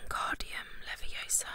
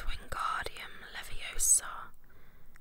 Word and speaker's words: Wingardium Leviosa: much more luck when guardium leviosa he shouted waving his long arms like a windmill you're saying it wrong harry had a mindy snap it's wingardium leviosa make the car nice and long you do it then